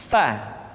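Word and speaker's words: ف: Berikutnya pengucapan huruf fa. Diucapkan dengan menyentuhkan ujung dua gigi seri kita bagian atas dengan bibir bawah bagian dalam. Fa. Seperti kita mengucapkan huruf F di dalam huruf Latin.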